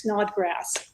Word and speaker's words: Snodgrass: for me one time it's literally just like it sounds it's Snodgrass and believe I like